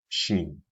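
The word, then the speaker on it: شين: Shin. Shin is pronounced using the middle of the tongue and opposite this region from the roof of the mouth, like so.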